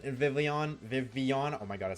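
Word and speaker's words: Vivillon: So I literally have it as hold the L to remind myself that there's you don't pronounce the L's in Vivian.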